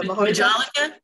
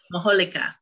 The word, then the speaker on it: Majolica: The Majolica? Yeah, but that J is pronounced like an H. No, I'm anglicizing it. It would be Majolica.